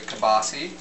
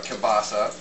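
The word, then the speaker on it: kielbasa: my second favorite is actually kabasi or kabasa, however you want to pronounce it.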